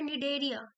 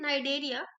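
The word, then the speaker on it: Cnidaria: ये लिखा है निडेरिया, what it is written, नाइडेरिया, सी यहाँ पे साइलेंट है, इज कैरेक्टराइज्ड बाय।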